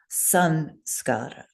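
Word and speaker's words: saṃskāra: So if you had an Anusvara like samskara with the fourth Varga S, what letter would you change that M to? To an N. Yes. A plain N. Fourth Varga plain N, plain American English N. So that's why Geshe Michael would want us to write and to say sanskara, not samskara, because the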